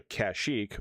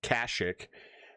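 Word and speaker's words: Kashyyyk: will instead leave go to Kashik or as they call it in this game for some reason Kashik. Um I know at the time that's how they pronounce it but although I do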